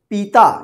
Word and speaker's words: पिता: जाएगा देखिए य पिता देखिए ज्यादा खींच उच्चारण नहीं हो रहा है पिता छोटा उच्चारण हो रहा है ना तो प में छोटी